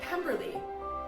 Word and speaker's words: Pemberley: It reminds me of Pemberley, which rhymes with Kimberly, which is my name.